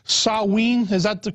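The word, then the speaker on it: Samhain: i think was called salween is that the correct uh the correct pronunciation yeah in in the celtic british isles yeah sowing it's spelled s-a-m-h-a-i-n but we say it as sowing and yeah that's the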